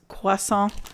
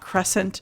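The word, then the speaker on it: croissant: quasa and hot coffee and yes it is pronounced quasa not Crescent God that's good this is fresh blackberries blended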